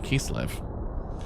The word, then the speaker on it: Kislev: Kisurebu in Japanese. That's how you say Kislev. I was don't know whether not to go by the Japanese pronunciation for Kislev. Kisurebu, because it's a bit easy to pronounce.